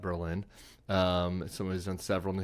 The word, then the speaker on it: Berlin: Last night in New Hampshire, Berlin, New Hampshire, they pronounce it Berlin, not Berlin.